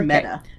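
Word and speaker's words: Medda: Meta. Meta Larkins. Meta Larkin. Like a meadowlark.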